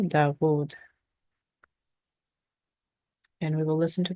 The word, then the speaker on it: داود: So we are going to pronounce the W sound, the consonant sound of wow, Dawood.